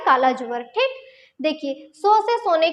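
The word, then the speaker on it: tsetse: वाहक है ये है सीसी फ्लाई, ठीक है। यह सीसी मक्खी के काटने से, ये TSE इसको टी से मत पढ़ेगा, ये टी यहाँ पे साइलेंट होता है, इसको सीसी फ्लाई या सीसी मक्खी कहा जाता है, ठीक।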